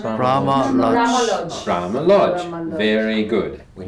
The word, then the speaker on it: Brahma Lodge: And this one, there's two strong syllables. Brahma Lodge. Brahma Lodge.